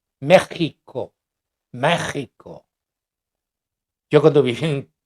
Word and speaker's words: México: mexica en ese entonces la x se se pronunciaba como sh como ese h y los españoles la pronunciaban como J De hecho hay algunos que eh que escribe en México con j México México yo cuando viví